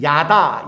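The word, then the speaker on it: ידע: 2 이 말은 원래 히브리어로 쓰여 졌던 야다 야다 라는 뜻이 뭐냐 다 그렇게 발음하고 그 뜻은 뭐냐면 그냥 누가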